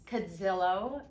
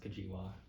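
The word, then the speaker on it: Cudzilo: say your last name it's actually pronounced kajiwa oh stop it i've been saying it wrong for like 10 years evan it is cadilla okay that's the polish version okay that's good well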